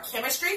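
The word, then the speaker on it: Kimistry: Her products are chemistry products. And then it's spelled K-I-M-I-S-T-R-Y. Chemistry, because I do believe her name is Kim.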